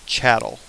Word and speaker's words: chattel: They were called chattel. It rhymes with cattle, dehumanizes you, right?